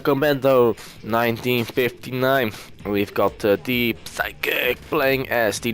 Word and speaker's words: Physick: on the top side we've got psychic the psychic as his name is pronounced and on the bottom